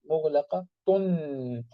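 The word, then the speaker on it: مغلقة: It had a sukoon, so it means mughlaqatun, though it is written with the ta marbuta, but the voice, in the voice, you can see that in the speech, you can see that the tanween, the last noon is silent, mughlaqatun.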